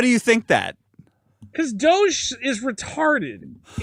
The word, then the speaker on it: Doge: Yeah, but the thing is not dog. It's doge.